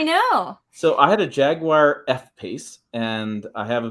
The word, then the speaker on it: Jaguar: So I had a Jaguar F-Pace, and I have a video review coming out of that.